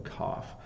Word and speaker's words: cough: a challenge so and it's because in England English um we often change how we use the GH right sometimes it makes no sound uh like in though and then sometimes it makes the f f sound as in cough so cough there you